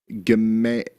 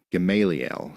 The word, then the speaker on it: Gamaliel: It's pronounced Gamaliel. Gamaliel.